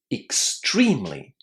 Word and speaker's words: extremely: You need to say extremely. Extremely. Can you hear how I pronounce that E? It was pronounced as the long E sound.